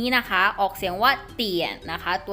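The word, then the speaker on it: 点: คะ ตัว นี้ นะ คะ ออก เสียง ว่า เตี่ย นะ คะ ตัว นี้ คือ เปลี่ยน นะ คะ เตี่ยน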